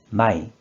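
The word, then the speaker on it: 枚: 이 한자는 뜻으로는 발음이 없고 음으로만 마이, 마이라고 읽어줘요.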